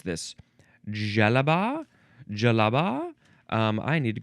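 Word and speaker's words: djellaba: The synonym is, how would you pronounce this? Jalaba.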